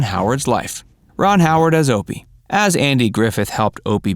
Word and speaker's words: Opie: a lot of jokes opie rhymes with dopey so it wasn't long